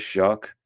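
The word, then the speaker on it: Shough: But Tyler Shuck coming in and you you look at his name, you think it'd be Shaw, but it is Shuck.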